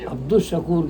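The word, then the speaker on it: عبد الشكور: श ये जो है शमसी हर्फ है तो हमेशा इसको अब्दुल शकूर कहना चाहिए अब्दुल शकूर नहीं है लाम साइलेंट हो जाता है इसमें लाम साइलेंट लाम साइलेंट है लेकिन वहां वहां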